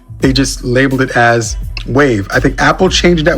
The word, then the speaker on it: WAV: the spelling is wrong it was just an abbreviation for the word wave because back then you